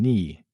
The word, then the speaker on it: knee: Silent K and knee, knife, and no come from Old English, where the K was pronounced.